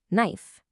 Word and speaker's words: knife: You see a K in knife and you expect a hard stop in the back of your throat, but your mouth just ignores it entirely and jumps straight to the N sound.